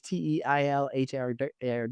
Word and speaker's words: Teilhard: That's spelled Dechardin. Teilhard is Teilhard.